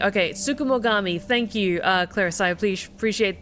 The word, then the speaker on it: tsukumogami: Tsukumogami. Okay, Tsukumogami. Thank you, Clarissa. I appreciate the breakdown.